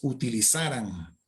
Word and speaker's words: utilizaran: La palabra es utilizaran. Es el subjuntivo de esa palabra, utilizaran. Y si es así, se escribe igual, pero no debe llevar acento.